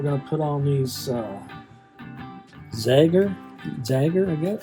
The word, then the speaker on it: Zager: So now we're going to put on these Zager, I guess I don't know how to say it. Zager, Z-A-G-E-R, Zager acoustic strings.